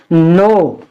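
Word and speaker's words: know: शब्द स्टार्ट होते हैं ऐसे सभी शब्दों में के साइलेंट रहता है यानी के को हम साइलेंट रखेंगे इसको पढ़ेंगे नो क्या पढ़ेंगे नो और के एन ओ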